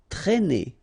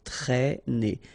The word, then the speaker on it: traîner: Okay, accent circonflexe here, so you should write it, but then keep in mind that you don't pronounce it, so it doesn't change the pronunciation of this combination of two letters, A and E together, it's E, okay, traîner.